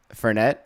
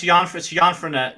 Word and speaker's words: Jan Frenette: Memories from filming Ian Furnett. Is that how you say his last name? Furnett? Jan Frenette? Yes, it's Jan Frenette. Jan Furnett. It Okay. sounds like me, but it's French, so it's pronounced Jan.